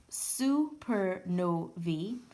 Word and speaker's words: supernovae: It goes on to state, most supernovae, that's the plural of supernova, and pronounced supernovae, come from massive stars.